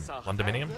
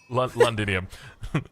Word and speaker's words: Londinium: Londominium. I hope I'm pronouncing Londinium. Londinium. I'm thinking like condominium London.